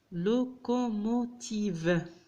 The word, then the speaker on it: locomotive: لكن قلنا الأو في آخر الكلمة عندما تشكل كلمة أكثر من حرفين تنطق كسكون، لذلك نطقها في هذه الكلمة ف. لوكوموتيف، لوكوموتيف يعني العربة، لا لوكوموتيف.